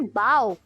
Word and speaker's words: bow: The park is located on the bank of the river. अगला homograph है बो या फिर बाव।